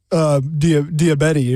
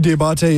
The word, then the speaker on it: Diabate: I was going to say, what about Diabetti, or how do you say it? Mahmoud Diabate. Diabate, yeah.